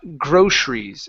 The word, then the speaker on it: groceries: here next one is groceries all right so in this word the E after the C okay we're not going to pronounce that so it's groceries groceries uh groceries yeah so